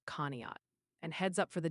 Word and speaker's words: Conneaut: Also, the chat's letting you know Conneaut, Ohio is pronounced Conneaut.